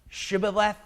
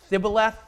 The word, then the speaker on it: Shibboleth: If you could say Shibboleth, Sibboleth, right? One person said it wrong, gone.